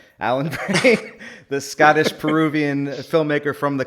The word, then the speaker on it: Brain: It still trips me out that is actually how that's pronounced, but okay. Alan Brain, the Scottish-Peruvian filmmaker from the Congo.